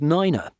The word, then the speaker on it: nine: Specifically, 3, 5, and 9 are pronounced tree, fife, and niner.